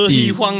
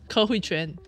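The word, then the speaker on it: Ke Huy Quan: Ke Hui Huang, the guy who is named, how to pronounce? Ke Hui Quan.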